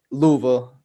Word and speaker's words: Louisville: with ncaa back with louisville louisville no that's how they pronounce it and then he was